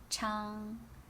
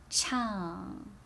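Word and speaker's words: 唱: It's chang without tone, so how do you make it with fourth tone? Ow, chang, chang, right? Chang is to sing.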